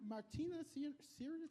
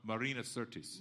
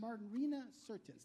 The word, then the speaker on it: Marina Sirtis: Is, you and Martina Sirius? I don't know how to try to pronounce Martina? it. Yeah. Martina Navratilova? No. You talk Troy. about Marina Sirtis. Marina Sirtis.